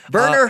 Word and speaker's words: Werner: Werner Herzog. Yes, let's What talk a great name. Werner. It's very German. Werner's? very German. Well, yeah, Werner. My name is Werner. It's pronounced with like a V. Werner.